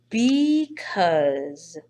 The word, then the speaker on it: because: The word is because. Because this word does not sound much of anything like what it is spelled like.